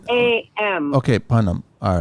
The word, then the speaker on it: Punam: There is no H in there though. It's spelled Papa Uniform November Alpha Mike. Oh, I'm sorry. Okay, how did I? A.M. Okay, Punam.